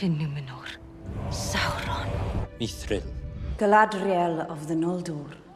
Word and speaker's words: Sauron: Por exemplo, no inglês comum, o normal seria falar Sauron, com aquele R mais enrolado. Mas seguindo algumas regras de pronúncia do legendário, esse R fica diferente.